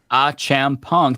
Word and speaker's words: Achampong: um so uh Eric achampong last name pronounced ah champang thank you thank you